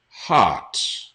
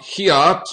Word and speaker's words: heart: Heart. Not hiat or hurt. I've heard some students say it like that. Or hiat, hurt. Heart. Sounds very similar to art. Okay? There's a lot of interesting art in this house. Art. Just add an H sound there.